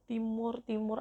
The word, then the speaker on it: Timor Timur: Bacanya Timur Timur atau yang sekarang itu namanya Timor Leste.